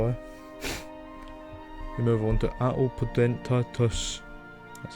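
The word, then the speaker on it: Atopodentatus: We move on to Atelpodentatus.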